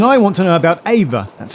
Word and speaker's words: AIVR: But then I want to know about AVA. That's spelled AIVR.